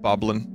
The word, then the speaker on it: Bokoblin: his uniform goblins i believe it's pronounced bokoblin but i'll accept boblin jeopardy would too these